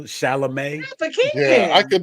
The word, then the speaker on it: Chalamet: Chalamet? But King. Yeah, I could never. I mean, type not for Just think of Shalimar. There we go. Right. Thank you, Timothy Chalamet.